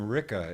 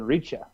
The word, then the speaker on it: Ricca: I mean, I suppose if it were kind of the two C's kind of tells me it's Italian.